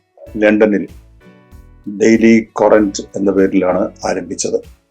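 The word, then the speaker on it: Courant: 1702 ൽ ലണ്ടനിൽ ഡെയിലി ക്വാറന്റ് എന്ന പേരിലാണ് ആരംഭിച്ചത് ക്വാറന്റ് എന്നുള്ളത് ഒരു സ്കോട്ടിഷ് ഉച്ചാരണമാണ് കറന്റ് എന്നാണ് വാക്ക് അപ്പൊ ഡെയിലി കറന്റ് അതിന്റെ സ്ഥാപക ഒരു സ്ത്രീയാണ്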